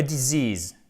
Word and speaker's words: disease: A disease, disease, disease, accent tonique là, c'est la maladie.